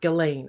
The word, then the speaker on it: Ghislaine: have an article titled gizlein maxwell oh sorry it's not i think it's pronounced galen it is going out it's galen galen all right uh i